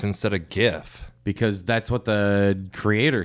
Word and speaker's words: GIF: Or not pronounced it with a J.